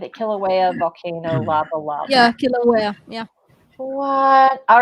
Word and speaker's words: Kilauea: Kilauea, is that it is? Get it? Kilauea volcano lava. Yeah, Kilauea.